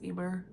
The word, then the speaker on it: Emer: We basically follow these three girls, Jude, Emer, I pronounce it as Emmer, but apparently it's Emer, I don't know, and